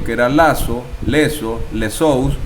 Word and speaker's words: Zeus: como zeus o dios zeus se pronuncia shows o sus en griego y fue conocido llamado